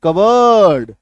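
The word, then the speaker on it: cupboard: आ जा रहा है पी के बाद बी ये चार को याद रखना है तो बी पी साइलेंट हो गया ना प साइलेंट हो गया पी का उच्चारण नहीं कर अब पढ़िए कवर्ड आ गया ना पी एस वाई सी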